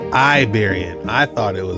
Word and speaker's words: Iberian: This Oh, it's pronounced Iberian. I thought it was Liberian.